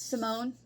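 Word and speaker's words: Simone St. James: of cold cases by simon saint james or simone st james i think is how it's pronounced yes simone so i was just interested in this um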